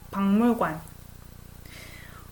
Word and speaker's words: 박물관: You pronounce 박물관, like one syllable at a time, but if you combine them together, it comes out naturally as 박물관.